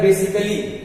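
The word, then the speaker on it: basically: double alloy यानी कि स्वयं कह रहा है बेसिकली बेसिकली में देखिए सबसे लास्ट में क्या मिला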